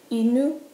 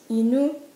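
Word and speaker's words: 犬: Dog is inu. Inu, inu.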